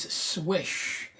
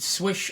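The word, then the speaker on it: Słysz: pronunciation the correct polish pronunciation is swish and you can actually catch that on a couple of videos on YouTube I believe Michael Janosch Browns it correctly the creator of the Yojimbo - he pronounced it swish as well so kind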